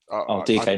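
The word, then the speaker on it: Dike: Yeah, Daryl DK, I think it's pronounced. DK, not Dyke.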